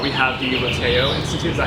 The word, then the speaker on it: Lateo: Okay, so in More Happy Than Not we have the Lateo Institute, is that how you pronounce it?